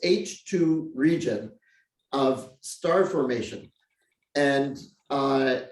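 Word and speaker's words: H II region: h and then two capital i's and it's pronounced h2 region of star formation and i i was asking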